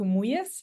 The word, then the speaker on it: Muya: Um, my name for the pronunciation, it's it's Fiona Wanjiku Muyas. So, it's Muya is is my surname.